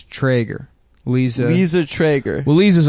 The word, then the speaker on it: Treyger: Liza Treyger. She's an actual friend of mine and I know how her name is. And it's not Treyger, it's Treyger. It's Treyger.